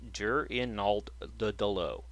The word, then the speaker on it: Gernaldo: I swear to God, that's how it's pronounced. Gernaldo.